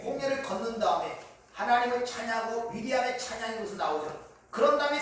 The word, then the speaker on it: 미리암: 그래서 이 마리아라는 이름은 히브리식으로 발음을 하면 미리암이에요. 미리암. 미리암은 모세의 누이였죠.